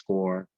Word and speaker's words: Corps: It's not, if you pronounce it corpse, that means a dead body. Okay, so Peace Corps.